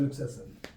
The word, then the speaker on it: luxation: ये कभी कभी ऑब्जेक्टिव में पूछता है कि इसको और क्या कहा जाता है डिस्लोकेशन, तो LUXATI और लुक्सेशन, इसका प्रोनाउंसिएशन वहां नहीं लिखने बोलेगा, इसलिए आप लुक्सेशन बोलिए, लुक्सेशन बोलिए, कोई दिक्कत नहीं है।